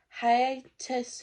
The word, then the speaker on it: hiatus: a condition and it is called probably gonna pronounce this one but it's called like hiatus hernia it's like h i a t u